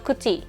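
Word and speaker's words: 九時: ฮั จิจิ 9 น คุจิ อัน นี้ ก็ เหมือน กัน นะ คะ ไม่ ใช่ คิจิ นะ คะ หลาย คน อาจ จะ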